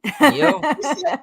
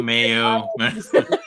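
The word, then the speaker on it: Miyo: Mio? He said Mio. He said it right the very last time, and I'm like, he's changing the way he's saying it. Mio He said Mano, Mayo.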